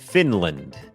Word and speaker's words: Finland: เป็น คอร์ส ฝึก ออก เสียง ฟินแลนด์ อ่าน ว่า finland finland โอเค อัน นี้ บ่ง บอก ว่า อ